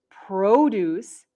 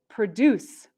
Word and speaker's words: produce: again what is the difference between produce and produce these two words in english are called heteronyms produce is a noun and produce is a verb these words look the same but they are pronounced differently they also have different